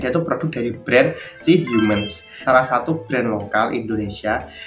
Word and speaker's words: HMNS: ini gitu loh mungkin satu mns nah dibacanya Humans nah Kayaknya aku mau